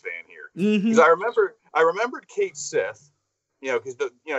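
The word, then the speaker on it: Cait Sith: And I've heard some people pronounce that character as Cat She. I'm like, why would you call it Cat She when clearly when you look at it, it says Kate Sith.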